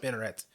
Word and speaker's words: spinneret: Yeah, so they go through this whole scene where he's like pronouncing the word out to him, and Jose is repeating it's like spin, et. Yep. Spinneret.